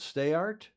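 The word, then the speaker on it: Steyaert: the French ladies Sarah he pronounced that stayart St art and Charlene Pon are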